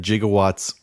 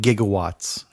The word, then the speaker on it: gigawatts: That gigawatts and gigawatts are both acceptable pronunciations of the word. Apparently it is gigawatts, but scientists, and that was something that Christopher Lloyd had researched, scientists prefer to use gigawatts. Gigawatts. Yeah. Instead of gigawatts.